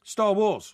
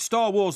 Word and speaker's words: Star Wars: The emphasis is on the first word. Star Wars. No, not Star Wars. It's Star Wars.